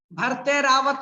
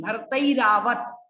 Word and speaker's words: भरतैरावत: भरतैरावत नहीं, भरतैरावत, ध्यान रखना है, संस्कृत में उच्चारण का विशेष महत्व है, इसलिए आप उच्चारण के महत्व को भूले नहीं।